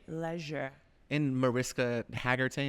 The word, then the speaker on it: Hargitay: and Mariska Hargitay, is that how you say it? Mariska Yeah. Hargitay. Hargitay.